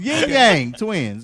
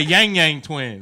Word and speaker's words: Yin Yang Twins: Yin Yang twins. I said that. You say Yang Yang twins.